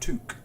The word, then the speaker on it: toque: can use this okay it's pronounced took so a wall toque and what we'll do